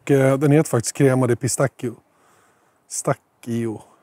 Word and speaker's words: pistacchio: Och den heter faktiskt crema di pistacchio. Stacchio. Det blir dubbel CH för mjuk och kal. Det blir K.